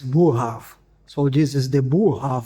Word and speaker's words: Boerhaave: Okay, so first thing, the correct pronunciation is Borrhaave.